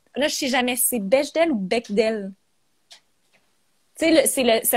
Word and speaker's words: Bechdel: personnage féminin ait une interaction avec, ça se prononce Bechdel, on me dit à l'oreille. Bechdel.